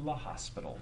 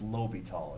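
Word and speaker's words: L'Hôpital: but we just said we're taking it to La hospital I don't know why it just looks too much like the hospital not to but it's Lobby tall if you want the correct pronunciation okay so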